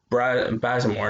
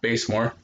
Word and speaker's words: Bazemore: It's Bazemore, not Basemore.